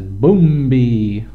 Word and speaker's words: Bumbi: One of the shows right now we're looking at is Bumbi. That's how they call it, that's how they pronounce it, Bumbi. Not Bumbi or something like that. No, Bumbi. They got all kinds of kids dancing around.